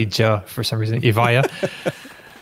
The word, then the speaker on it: Evija: The Evija. Evija? Oh, thank you. I would have pronounced so wrong.